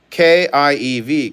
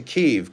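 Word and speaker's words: Kyiv: kiev is still standing it used to be kiev k-i-e-v kiev but in 2018 they changed it to keeve k-y-i-v biscuit cause kiev was the russian pronunciation kiev is the ukrainian and they wanted to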